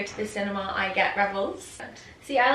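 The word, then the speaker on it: Revels: I love rebels. How do you say that? Rebels. How do you spell that?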